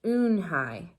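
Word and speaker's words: Unhei: Your name is Unhee? He asked her with his eyes open wide. Unhai looked quickly at Mr. Kim, then turned to Joey. She nodded slowly. Yes, it's pronounced Unhai.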